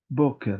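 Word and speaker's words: בוקר: dice mañana en hebreo Cómo se dice mañana boker verdad todo el mundo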